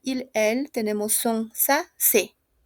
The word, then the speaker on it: ses: Para il, elle tenemos son, sa, se. La S no se pronuncia, d'accord?